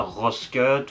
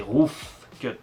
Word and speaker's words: Rough Cut: chiant je sais mais c'est roof cut avec un grand F les anglophones il disent ROF cut donc voilà on est